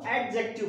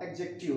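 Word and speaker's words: adjective: कई लोग इसको एडजेक्टिव बोलते हैं, मतलब टी को भी बोलते हैं तो बट टी साइलेंट में रहता है। ठीक है, तो आपका क्या होगा? एडजेक्टिव होगा।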